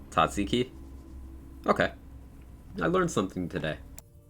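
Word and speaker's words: tzatziki: Let's pronounce Tatsiki.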